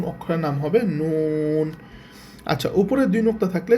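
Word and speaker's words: نون: আর উপরে যদি নোক্তা থাকে তখন অক্ষরের নাম হবে নুন।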